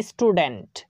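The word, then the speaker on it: student: টি ইউ লেটারটি কে দেখতে পাচ্ছি তাই তার উচ্চারণটা ট এর মতোই করছি তেমনি করে বলা যাবে স্টুডেন্ট স্টুডেন্ট তো এখানেও আমরা এস এর পরে টি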